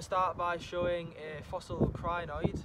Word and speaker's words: crinoid: We're going to start by showing a fossil crinoid, or crinoid, depending how you pronounce it, fossil that we